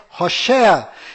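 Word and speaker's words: Hoshea: mudou para Josué mas a pronúncia correta de Oséias é Rocher e como Moisés mudou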